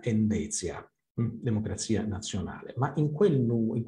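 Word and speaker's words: Endecja: Le sue iniziali, DN, sono anche pronunciabili in polacco come nella sigla Endezia, democrazia nazionale, ma in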